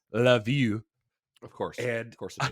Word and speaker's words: Lviv: would know as uh this one spelled Lviv uh which is actually pronounce love you of course of course